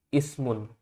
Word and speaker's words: ismun: Namun ketika tidak ada kata sama sekali di belakangnya seperti ini, maka kita baca ismun. I-nya dibaca ini i-nya dibaca. Itu adalah asal muasal hamzah wasal.